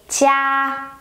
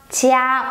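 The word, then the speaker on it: 家: And if you want to say jia, jia, which means home, you get J-I-A, but the I-A is the final. The ya sound is final, so you don't spell J-I-I-A, you spell J-I-A.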